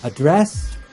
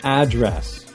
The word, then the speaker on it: address: Lastly, address and address.